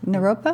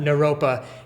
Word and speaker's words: Naropa: do you say the name of it again Naropa Naropa University to be the dance teacher or yeah